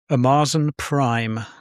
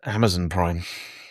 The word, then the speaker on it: Amazon Prime: The Long Walk was on Amarzen Prime. Okay. It's actually pronounced Amazon Prime.